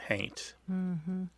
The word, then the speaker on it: haint: if that makes sense somebody might spell it h-a-u-n-t but pronounce it haint but definitely a long tradition my my aunt meso used to talk about that house is hainted painted oh really my